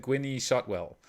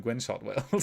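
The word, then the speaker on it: Gwynne Shotwell: know and i did not know how to pronounce her name correctly so i said gwinnie shotwell which i actually like better than gwen shot well still but it's gwen shotwell and mike always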